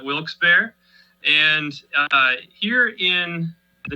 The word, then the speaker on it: Wilkes-Barre: we were founded in a town in pennsylvania that is pronounced many different ways i call it wilkes-barre and uh here in